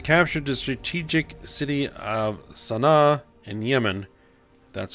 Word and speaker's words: Sanaa: 2019 Yemen has captured the strategic city of Sanaa and Yemen that's how you pronounce that though the city is in ruins